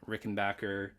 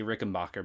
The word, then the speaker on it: Rickenbacker: It's a 1999 Rickenbacker 36012 V64 model. I always say Rickenbacker, but I'm trying to be good, guys. I'm trying to pronounce it the right way.